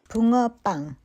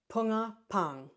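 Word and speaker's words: 붕어빵: I got a little help from my friend Juhei to help me pronounce this correctly. Punga pang. Punga pang. Punga pang.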